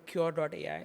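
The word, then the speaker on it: Qure.ai: Today, for example, Fractal has a business called Cure.ai, spelled with a Q.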